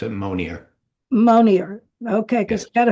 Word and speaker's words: Monier: It's Monier. Yeah. The name is French, but we've anglicized it. So we pronounce it Monier.